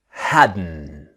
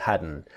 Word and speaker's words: hadn't: our practice now remember the pronunciation is hadn't the T silent hadn't just like wasn't wearing